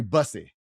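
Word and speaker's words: Bussey: On the ensuing kickoff, Terry Busy, busy, that's how you say it.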